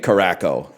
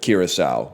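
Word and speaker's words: Curaçao: But then he did say Caraco instead of Kiraasau, which is really funny.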